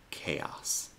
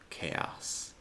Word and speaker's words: chaos: Lo más común es pronunciarlo así, como ch, pero luego tenemos otras palabras donde la CH se pronuncia como si fuera una K. Stomach, ache, Christmas, chaos. Stomach, ache, Christmas, chaos.